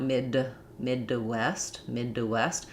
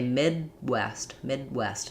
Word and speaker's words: Midwest: We use an unreleased D there. So I don't want mid to west, because that's just going to add a syllable and it's going to sound unnatural. We would just say Midwest. That D is unreleased.